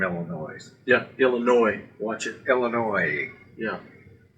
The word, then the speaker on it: Illinois: Illinois. Yeah. S is silent. And the O-I is a Y.